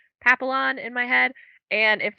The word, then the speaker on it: papillon: did learn some pronunciation see in my head i was saying papillion but i know that that can't be it yeah there's no i i kept putting an eye in it too and they're just there is